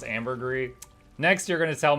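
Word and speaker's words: ambergris: people just chunk of Amber grous I mean you you basically Farm gold doing something you do enjoy and then just buy it from someone else thank you sure it's pronounced Amber gree next you're going to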